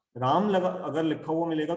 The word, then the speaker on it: राम: अब जैसे कृष्ण, फॉरेन के लोग कृष्णा बोलते हैं, रामा बोलते हैं, तो असल में तो शब्द क्या है, राम है, रामा नहीं है, कृष्ण है, कृष्णा नहीं है।